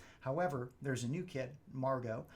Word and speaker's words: Margot: there's a new kid Margo it's a French ish name so the T at the end is silent it's not Margot it's